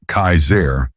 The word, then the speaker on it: Kasar: One man in particular who called himself Kasar, pronounced Kaizair, was especially dangerous.